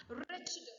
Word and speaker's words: wretched: Wretched. Next one is wretched. W is silent.